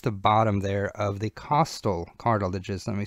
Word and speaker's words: costal: bottom there of the costal cartilages let me spell that here remember it's not Coastal like it's on the Seacoast right it's costal uh so the costal